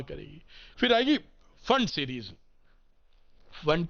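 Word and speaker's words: Pfund: फिर आएगी फंड series फंड का पी साइलेंट है तो ये साइंटिस्ट के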